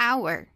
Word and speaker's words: hour: essa palavra aqui ó the hour in our de hora nesse caso a gente não pronuncia olhar Ok é um caso de uma exceção no inglês né porque no inglês o hagah tem que ter som mas nessa palavra aqui our ela o h não tem som que a